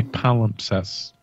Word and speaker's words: palimpsest: let me see if I'm saying right papa pollen pest pal impressed how do you pronounce that freaking word man what is this jamot appellant a power obsessed apollo obsessed yes I had it right the first time manuscript our piece